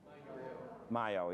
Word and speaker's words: maillot: Greenie Taliaferro in her white Maya, how do you pronounce M-A-I-L-L-O-T? Mayo, yeah, good. Like the French sculptor.